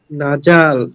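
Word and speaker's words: نَزَلَ: নাজাল নাজালা না যা ভাইয়া, জিম হয়ে যাচ্ছে কিন্তু, না যা যা না যা।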